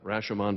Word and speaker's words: Rashomon: The year was about 1950, and the film was called Rashomon, pronounced Rashomon by most Americans, but essentially about versioning.